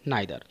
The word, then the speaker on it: neither: और एक बात और पॉइंट नोट करिए कि नाइदर के दोनों ही प्रोनाउंसिएशन हो सकते हैं, या तो आप इसे नीदर बोलिए या बोलिए नाइदर।